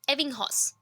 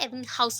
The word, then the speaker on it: Ebbinghaus: हूँ, that is EBBINGHAUS, एविंगहॉस, ठीक है। एविंगहॉस बोल सकते हैं, एविंग हाउस भी बोल सकते हैं, जिसको आपको प्रोनाउंसिएशन का प्रॉब्लम हो रहा है तो आप बोल सकते हैं, बट एविंगहॉस।